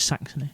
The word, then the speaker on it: Saxony: Am I pronouncing that right? Saxony?